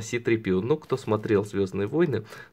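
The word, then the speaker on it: C-3PO: Не Зора читается, а Си-3PO.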